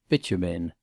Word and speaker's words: Beauchemin: Mr. Freer had caught quite the right pronunciation of this name, which he successfully sounded as Bitumen.